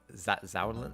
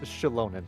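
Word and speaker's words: Xilonen: we all know uh z zolin z zonen that her it's pronounced Shalon yes wow I was not even close it's meso American so the the x is like a a sh sound interesting okay keep her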